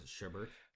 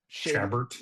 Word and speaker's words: Chabert: What do you think it was? Sherbert? Chabert.